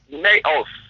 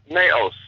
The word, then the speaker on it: naos: Greek word used is naos naos or or I I suppose it would be pronounced uh more appropriately na n okay so n a o s so see Iran